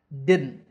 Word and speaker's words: didn't: didn't they're both wrong to say this word correctly say did first did then add a nu sound at the end didn't using your nose didn't and that's it